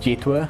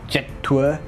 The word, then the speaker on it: Jetour: Now I think it's pronounced Jetour. It could be Jetour, but yeah, it's another one of those Chery subsidiaries.